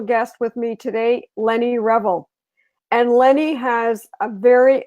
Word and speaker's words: Revell: so yeah I mean my name is Lenny Revell and that's how you pronounce it and it's a combination of right